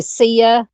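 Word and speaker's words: Cieah: I'm just going to say CIA. It's spelled C I E A H.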